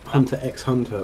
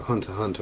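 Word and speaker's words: Hunter × Hunter: in anime or manga, you don't pronounce the X. It's not Hunter X Hunter or uh Spy X Hunter. It's just, you know, Hunter Hunter or Spy Hunter or something.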